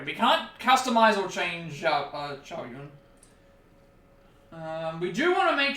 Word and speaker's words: Zhao Yun: So you don't pronounce it as cow, you pronounce it as Sao. That's I've learnt that from watching enough Dynasty Warriors content. So I think he's like Zhao Yun. Is the way you're supposed to pronounce his name.